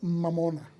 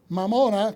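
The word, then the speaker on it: mammona: de la palabra o como se pronunciaría correctamente la palabra viene de al inglés o viene al idioma inglés vea el latín posclásico que se dice mamona mamona que significa riqueza usado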